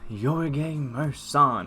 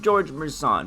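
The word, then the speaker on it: Gheorghe Mureșan: is super solid man galaxy opal your game merson or as everybody else in the 2k community calls them george merson but that's i guess technically how it's pronounced um naturally nice my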